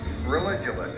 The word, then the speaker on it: Religulous: name of your movie religionist it's like you're saying religion and then you go to ridiculous for obvious reason well speaking of which